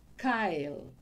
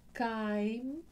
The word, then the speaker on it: chyme: voy a decir, pero confunde el sonido de una campana, tañir una campana, eso se dice en lugar de chyme, que es lo que debería de decir, lo llama chyle.